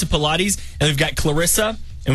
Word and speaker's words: Pilates: That's how you pronounce it, Pilates.